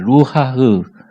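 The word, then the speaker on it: רוּחַ: 루하흐. 좀 칵 소리가 나도 되고 침이 나도 되고 루하흐 이런 말인데 루하흐 이런 말인데요.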